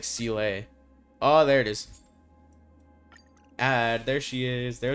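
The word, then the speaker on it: Seele: has a Sealy rcla I keep saying silly but I think when she pronounced her name in the game it was like CLA oh there it is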